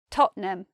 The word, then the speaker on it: Tottenham: got Nottingham then Tottenham Tottenham what surprises us about the pronunciation of Tottenham is that it's not three syllables you might expect Tottenham it's not that we say Tottenham and if you're into